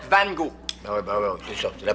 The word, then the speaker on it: Van Gogh: Van Gogh, pa. Ça se prononce Van Gogh.